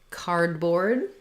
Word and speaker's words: cardboard: word cardboard um so cardboard is an example of a compound word where in these words we stress both syllables but the primary stress is going to be on the first syllable so it's not cardboard